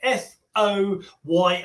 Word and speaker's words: Foy: first sound is Foy so you could spell it f o y i or f-o-i says Foy like boy but if you can